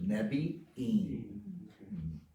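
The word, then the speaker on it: נביאים: So that double vowel there, you pronounce both of them, Nevi'im. Double I there in Yeah. that word.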